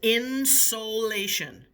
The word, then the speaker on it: insolation: The word is insolation. Insulation. It's pronounced insulation, but this is not like what's behind your walls. This is not insulation with a U.